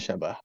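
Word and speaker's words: شبه: ee G wajuhus syabah harus di bacanya syabah bukan syiba ya nanti ada pembahasan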